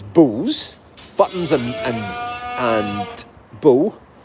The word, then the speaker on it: Beau: Elisa says bows, Buttons and bow, spelled B-E-A-U.